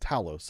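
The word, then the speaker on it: Thales: which is spelled, but I've been told it's pronounced Talos.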